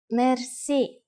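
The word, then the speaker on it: мерси: which word that is merci merci merci is a loan word from french but it is pronounced with the typical bulgarian heart are it is used mainly in informal situations merci how do you answer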